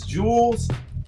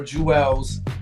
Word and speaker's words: Jewelz: underground you tell me it could be pronounced as jules or juelz the man himself oc all right however you choose to pronounce it enunciated that's on the person how you feeling today